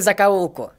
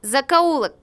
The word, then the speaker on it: закоулок: прогулку в этом городе знаю каждую закалку правильно говорить закоулок грамотей ну что айдана